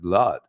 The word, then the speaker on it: blood: it blood and not blood BL well it's blood that's how we pronounce it like flood in in so and